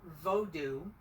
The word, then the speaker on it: vodou: friday fun oh and make sure you say it correctly because we learned something on our friday fun we thought we were going on a voodoo tour we ended up learning about vodou and vodun um what we thought